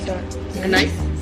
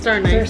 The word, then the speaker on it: star anise: Star Nice? Star anise. Star anise? Yeah, that's how you pronounce it?